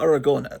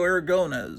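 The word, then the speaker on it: Aragonés: Sergio Sergio Aragon. Aragon. I I I try to I as a kid I was calling him Sergio Aragon but no I try to pronounce it properly.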